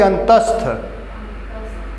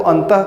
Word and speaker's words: अंतःस्थ: दे रहा, तब वो अंतः कर रही हो, वो अलग बात है। लोग ऐसे बोल देते हैं अंतः, लेकिन हर समय उच्चारण जो होता है वो बिल्कुल शुद्ध और सही होना चाहिए।